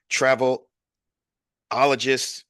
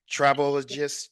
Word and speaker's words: travelogist: I'm excited again because my next guest is an international keynoter, mindset coach, travel ologist. Did I pronounce that right? Travelogist. Travelogist. Yes, travelogist, founder and CEO of Soaring Without Limits Enterprises, and a whole lot more.